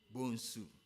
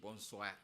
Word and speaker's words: Bonsu: Bedu Bonsu. Bonsu. And it is spelled B-O-N-S-O-E. If you don't take care, you pronounce it Bonsoir.